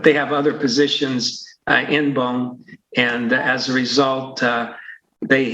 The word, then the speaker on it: BOEM: How do you pronounce B-O-M-E? B-O-E-M.